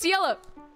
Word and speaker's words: Ciela: No, it's Ciela.